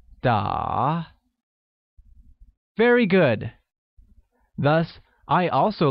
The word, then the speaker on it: 打: To play or playing is translated as 打, which is pronounced using a falling rising tone, making it 打.